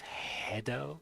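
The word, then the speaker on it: Gero: JRo is called Dr. Maki JRo, pronounced as hedo. Oh, Dr. Maki hedo. Why hedo? Because of his head.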